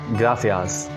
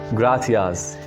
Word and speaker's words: gracias: you in spanish is gracias gratias the c here is pronounced as th as of english gratias gratias in latin america this soft sea is pronounced as s as of english gracias gracias th sound for